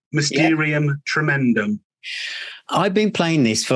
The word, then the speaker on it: Mysterium Tremedum: And in this episode, I'm absolutely delighted to have with me the Captain, the album called Mysterium, Tremedum. Have I pronounced that right, Captain? That's right. Mysterium, Tremedum.